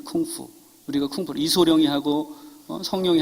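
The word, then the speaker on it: 功夫: 같은 한자 문화권에서 와서 그 공부를 중국말로 그대로 발음을 하면 콩푸라고 합니다. 그게 쿵푸입니다. 쿵푸.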